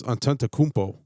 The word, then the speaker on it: Antetokounmpo: it goes Antetokounmpo.